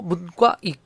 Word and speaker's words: 문과: 우리 문과 이과라고 하지 않고 문과 된 소리로 발음합니다.